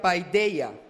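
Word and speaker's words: παιδεία: La palabra disciplina en el griego quiere decir o se pronuncia paidea y tiene un significado de mayor peso, significa castigo, reprensión.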